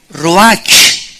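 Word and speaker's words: רוח: es la palabra hebrea Roach que se pronuncia ro La ch en el hebreo se pronuncia como j y que es la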